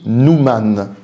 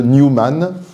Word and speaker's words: Newman: Une précision pour commencer, il faudrait, pour prononcer correctement, parler de John Henry Newman, comme on parle de New York. Bon, en France, tout le monde parle de Newman, alors pour simplifier les